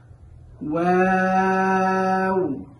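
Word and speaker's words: واو: এখন ওয়াও উচ্চারণের সময় আমরা অনেকেই একটা ভুল করে থাকি, সেটা হলো ওয়াও, ওয়াও এরকম করে থাকি। আসলে ওয়াও হরফটি খুবই পাতলা, এজন্য এই হরফটিকে ওয়াও পড়া যাবে না, এই হরফটিকে পড়তে হবে ওয়াও, ওয়াও।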